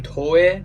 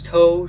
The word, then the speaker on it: toe: I've always called them toy because I thought there's no way they they're going to call themselves toe uh like like the pinky toe like fingers but on your feet toe uh so I thought